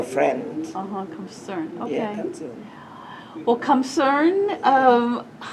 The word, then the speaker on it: Khamseune: My real name, Khamseune, Khamseune? yeah, Khamseune. Okay. yeah, almost like a concern, but we call Kham because we Khamseune. spell friends. Uh-huh. Khamseune.